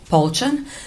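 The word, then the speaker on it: Polchan: My first name is spelled D A R I N K A and my last name is Pchan. is spelled M I L E U S N I C.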